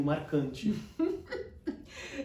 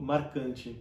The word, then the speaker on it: marcante: O que me faz lembrar da segunda diferença, que é o R, o marcante. Então como é que você pronuncia? Eu falo marcante.